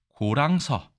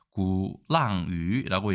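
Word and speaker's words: 鼓浪屿: 바로 고랑서. 중국어 발음 좀 다른데 구랑유라고 얘기합니다.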